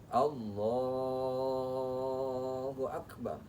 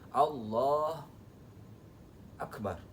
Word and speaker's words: Allahu Akbar: Allahu Akbar sambil madhab kiblat dan tempat sujud kita. Nggak boleh putus lafalnya. Allahu Akbar, jangan Allah Akbar, jangan ya. Harus tam, sempurna.